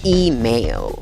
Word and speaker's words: email: Esa E con el guión arriba se pronuncia como una I larga. I. ¿Ves la A con el guión arriba? Esa A con el guión arriba se pronuncia EI. EI. Por lo tanto, esta palabra se pronuncia email. Email. Acuérdate, la fuerza de voz va en la primera sílaba.